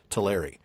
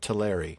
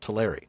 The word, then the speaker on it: Teleri: used to pronounce it Teleri. Um, because we do know that that E is supposed to be pronounced like an A. More like air, yeah. That's something we had. Teleri.